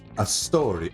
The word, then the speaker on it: Astori: Her last name is Astori. Astori. Yes. Astore. Pronounced a story.